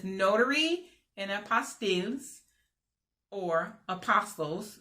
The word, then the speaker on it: apostille: There's a tab that says Notary and Apostilles, or apostles. That's what everybody says, apostles, but the correct way to say it is apostilles and apostille.